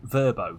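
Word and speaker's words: Vrbo: the kids are doing verbo these days is that how it's pronounced or is it another diplodocus situation apparently verbo v-e-r-b-o was the pronunciation guys strange feeling the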